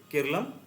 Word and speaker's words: Keralam: और मलयालम भाषा में इसे हम लोग क्या बोलते हैं? केरलम बोलते हैं और हम लोग जो अंग्रेजी उच्चारण करते हैं, अंग्रेजी उच्चारण के तहत इसे केरल बोला जाता है।